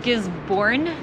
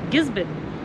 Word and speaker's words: Gisborne: your boat you would normally think gizon is pronounced giz born but they call it gizon and uh what else they call it Gibby